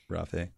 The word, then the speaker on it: Rafe: Get on it, Rafe. Am I pronouncing that right? I should just say Judkins, because... Rafe Judkins. I think that's... Rafe. I think of it like Raphael, only shorter.